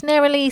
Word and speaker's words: Nerilee: the gold in our special guest welcome naralee thank you good to be here it's naralee isn't it that's right that's how I pronounce it yeah nice to meet you there